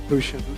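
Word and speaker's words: Gusion: Is it Guushian or Gushian? How do you pronounce it? Kushian.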